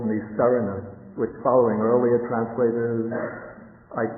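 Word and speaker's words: nissaraṇa: Can you hear Adinava, that N, and Nisarana? Maybe the way I pronounce it, not so clear. But I know some Sinhalese Sri Lankan monks, when they pronounce them, one could hear very distinctly the difference.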